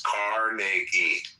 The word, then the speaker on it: Carnegie: Well, pronounce his fucking name right. It's Carnegie.